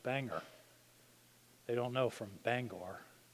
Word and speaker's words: Bangor: Washington with the name be a Ngor it's pronounced Bangor they don't know from Bangor but those places